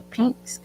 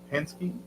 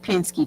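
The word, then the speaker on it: Penske: they are trying to catch a pink a pinks, how you pronounce it, box truck. They're dumping tires behind an abandoned house um where Lahi Cooper lives. It's across the street. It's a Pensky. That's it. Pinsky truck.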